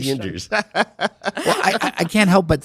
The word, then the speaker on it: Sanders: And by the way, may I just say here, it's Sanders, not Saunders.